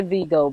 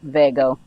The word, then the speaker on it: Vego: I know a lot of people say VGO, but I do believe it's pronounced Vego, I think.